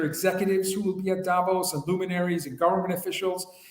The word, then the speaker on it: Davos: Eastern next week I'm live from Davos oh Davos for all those people who want us to pronounce it properly so yes as well yeah